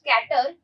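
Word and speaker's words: cater: The dramatist must कैटर dash the test of the audience. केटर या कैटर, जो भी आपको प्रोनाउंसिएट करो, दोनों आपका प्रोनाउंसिएशन यहाँ पर करेक्ट है।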